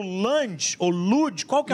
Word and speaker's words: Luge: E agora vamos para mais um que é similar, tem semelhanças, que é o Lunge, ou Luge. Qual que é a pronúncia? Luge.